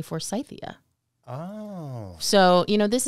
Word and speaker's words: Forsythia: how names are pronounced another great example would be Forsythia what we say is Forsythia in the U.S well it was actually named after a Dr Forsyth and if you are